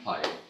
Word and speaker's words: Paea: Paea? Good morning. How do you say your last name? Paea. Paea.